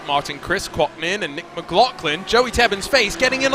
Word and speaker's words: McLaughlin: Speak of the devil, here is Nick McLaughlin, with no H pronounced in his name.